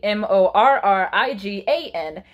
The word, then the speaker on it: Morgan: can't stop it though Morgan is her name is spelled the MOR gan but she's actually mor RI gan and the five boys